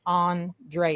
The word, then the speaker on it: Andrea: enslavement pardon me and my name is pronounced Andrea Andrea Andrea sorry that's okay um